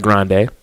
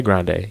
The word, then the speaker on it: Grande: It looks like Grande. People say Grande. Your industry peers say Grande. Do you text Nicki Minaj and say, excuse me, best friend? It's Grandy. Like, why would you wait all this time to finally say something?